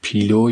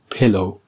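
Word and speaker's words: pillow: دقت کنید پیلو یا پلو تلفظ نکنید، یه صدایی هست بین ای و ا. پلو.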